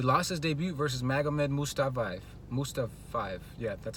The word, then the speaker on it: Mustafayev: He lost his debut versus Magomed Mustafayev.